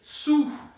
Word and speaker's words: sous: boca do U e fala I, su e pronuncia o R. Sur. Agora, sob é sous. La boîte é sous la table. Sous. E como S e U em português? Sur, sous.